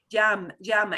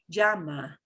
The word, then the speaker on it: llama: Llama, and you're gonna hear me. I do the little bit of the je before the Y, but really, really faint. Llama.